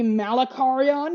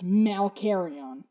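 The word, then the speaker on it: Malkarion: I have become locked into saying Malacarion because my brain thinks it's M-A-L-A. M-A-L-A. So Malcarion. M-A-L-A. So Malacarion. My brain keeps saying Malacarion, but it's Malcarion.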